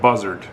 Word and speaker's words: Bussard: It almost wants to come out to sound like buzzard, but it's Buzzard, B-U-S-S-A-R-D, so Buzzard.